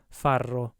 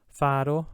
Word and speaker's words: farro: the first one that if there's only one art it's inflict and if there's two r's it's rolled right so faro farro faro farro and last lastly